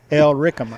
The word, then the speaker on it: Illyricum: Illyricum. Illyricum. Yeah, Illyricum. L is pronounced in an Illyric, R-I-C.